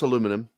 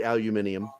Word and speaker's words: aluminum: I also know how to pronounce aluminum, and I mock all my English friends that say aluminium. I'm like, England added a vowel that doesn't exist. It doesn't fucking exist.